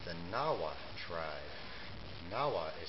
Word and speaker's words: Nahuatl: It's the Nahua tribe. Nahua is spelled N-A-H-U-A-T-L.